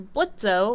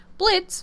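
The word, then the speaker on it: Blitzø: of a boss is blitz o or blitz I forgot the O is silent whatever blitz is a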